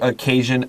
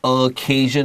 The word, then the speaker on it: occasion: When you look at the word occasion, I recommend 我建议 write down 这个第一个 O 是短 U occasion 还是长 O occasion both are totally fine and 这个 C 当然是一个 K 的发音 Let's look at our